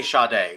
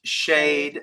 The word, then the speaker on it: Sade: For those of you not in on the joke, we say Sade. We do know it's pronounced shade, but it's just a thing.